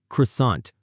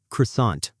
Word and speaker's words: croissant: Croissant. Croissant. I had a butter croissant for breakfast. In English, we say croissant or croissant.